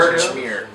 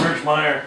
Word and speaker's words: Birchmeier: Birchmere. Birchmere. Is that how you say it? Yeah, it's Birchmeier.